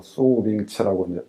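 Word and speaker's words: 蘇秉琦: 중요한 유적들이 이렇게 나오니까 북경대에 소병기라고 하는 교수가 있었어요. 수빙치라고 이렇게 발음을 하는데 그 양반한테 새롭게 연구를 시킵니다.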